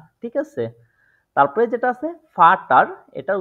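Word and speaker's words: Vater: হচ্ছে বেচা বেসা ঠিক আছে তারপরে যেটা আছে ফাটার এটার উচ্চারণটা হচ্ছে ফাটা ফাটা এখন এটা তো শিখলাম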